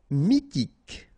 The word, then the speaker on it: mythique: Mythique. Remember, Q-U at the end, K, okay, and then Y is pronounced like I. Mi, H is not pronounced.